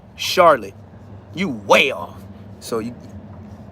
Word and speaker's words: Charlotte: Charlotte. You way off. So you you can't even say you was close. Her name is spelled like Charlotte Hornets. Charlotte. Like Charlotte's Web.